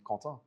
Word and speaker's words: Quentin: So, Quentin or Quentin, what do you prefer? If you can pronounce it correctly, Quentin.